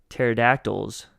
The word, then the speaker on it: pterodactyls: the other day uh why can't you hear pterodactyls in the bathroom because the p is silent oh good God